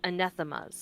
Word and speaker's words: anathemas: the way, that word that you put into the chat is pronounced anathemas. Okay, anathemas.